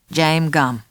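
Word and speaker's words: Jame Gumb: I'd better spell it for you. It's J-A-M-E-G-U-M-B. James Gumm.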